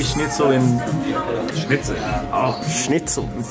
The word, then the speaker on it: Schnitzel: Oh, schnitzel. It's more attitude, schnitzel.